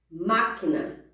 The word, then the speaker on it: máquina: Máquina, pântano, átomo. Perceberam que a primeira sílaba é a mais forte?